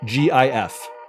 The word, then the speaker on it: GIF: Yes, the way it's pronounced is definitely GIF.